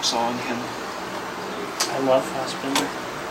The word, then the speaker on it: Fassbinder: I love Fassbinder. I don't even pronounce his name right. That just shows you it's Bender. It's not Binder.